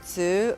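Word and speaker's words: つ: The two is always pronounced tsu, but there is no S actually written into. That's true. That is true. It is always tsu.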